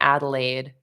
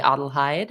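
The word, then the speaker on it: Adelheid: something and of course I should remember from my own German roots that I'm saying Adelaide like almost like the place in uh is it Australia or New Zealand where Adelaide is but anyway it's the German pronunciation so adhy thank you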